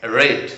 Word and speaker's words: read: তো রেড উচ্চারণটা কিন্তু রেড।